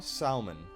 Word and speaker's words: salmon: Okay, both of you manage to spot by the side of the ship into the water a small salmon swimming by.